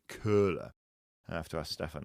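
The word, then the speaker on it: Köhler: Um but have you have you heard about the the cola effect? No. Now it's not as in Coca-Cola. It's K O H L E R. Maybe in Germany pronounc it curler.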